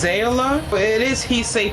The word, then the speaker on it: Zaila: So I believe it's pronounced ZAILA, but it is heat safe from 350 to 400 degrees Fahrenheit.